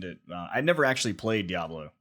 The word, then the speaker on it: Diablo: rpg game just like path of exile or diablo three um you just kill demons and fight